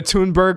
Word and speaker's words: Thunberg: We're going to act like Greta Thunberg, Greta, Greta Tunberg, I got to pronounce her name right, is just some crazy crazy uh never knows what she's talking about.